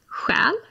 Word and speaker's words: själ: And then we have själ.